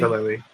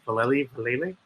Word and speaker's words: Vallely: No, I can't pronounce his name properly. It's my German tongue. I can't. Mike Val. I think it is Vallely. It's weird.